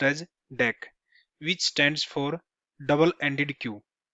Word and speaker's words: Deque: Array D क्यू in Java is a class that implements DQ interface, pronounced as DEC, which stands for double-ended queue.